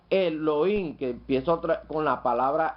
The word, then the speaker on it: Elohim: Tenemos esta otra palabra que se pronuncia Elohim, que empieza con la palabra El, singular, empieza con el Señor Cristo Yeshua.